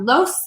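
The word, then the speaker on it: loess: lot bigger you have silt or loss is how that's pronounced sand is very very fine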